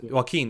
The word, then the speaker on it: Joaquin: heard that some joking or what name is pronounced Joaquin yeah work in Phoenix actually was selected for